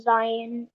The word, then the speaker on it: Zion: is here um my my name is actually pronounced Zion Zion okay I'm sorry beautiful